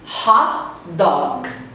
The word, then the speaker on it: hot dog: Hot dog. Hot dog. Não tem dog. Hot dog. O G termina na sua garganta.